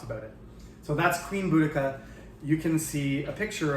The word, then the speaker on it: Boudica: of Celtic Britain queen, Boudica, and some people pronounce it Boedica.